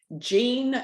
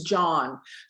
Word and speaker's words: Jean: a very special guest jean well actually it's not i keep saying that it's john john is from austria so in europe you know j-e-a-n is pronounced john okay so it's john